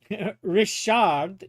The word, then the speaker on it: Richard: Rashard is how you pronounce Richard in French.